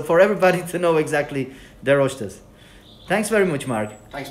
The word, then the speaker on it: De Roiste: And before we go, tell me exactly how to pronounce the Roiste. Is it right? What is the right pronunciation? The Roiste. Okay, so for everybody to know exactly the Roiste.